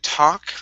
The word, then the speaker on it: talk: going to be uh talk remember that L is silent instead of talk it's